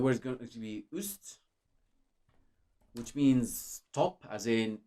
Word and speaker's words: üst: And this, in a sense, it's similar to the pronunciation of like ew, that's disgusting, or few. It's similar, just not exactly identical.